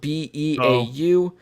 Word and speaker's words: Beau: His first name is spelled B-E-A-U. So I'm going to go with Beau. Maybe he's creative and it's like B-O, or Boo, No, something like that. But Beau. we're going to go with Beau.